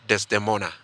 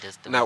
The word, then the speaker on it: Desdemona: Ndota, you have a song titled Desdemona. Yeah. Did I pronounce it right? Yeah, Now, Desdemona.